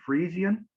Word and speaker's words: Frisian: Farmers Union yeah let me see if I pronounce this correctly Friesian Friesian yeah the Friesian peoples and describe uh